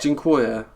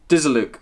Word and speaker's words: Dziękuję: my mum, and you're like, how do you pronounce it? Dziękuję. No. Oh, Dizzaluk.